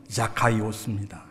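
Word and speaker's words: Ζακχαῖος: 사게오는 그리스어로 된 이름인데 제대로 발음하면 자카이오스입니다.이 이름은 히브리어 자카이란 단어에서 유래했는데 그 뜻이 무척 좋아요.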